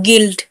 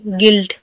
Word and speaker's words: guilt: गिल्ट, GUILT, गिल्ट, यू के बाद आए हैं तो यू यहाँ पर साइलेंट है।